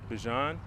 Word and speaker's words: Bijan: sevens first for you the proper way to say this Bichon but I say Bijan there you go I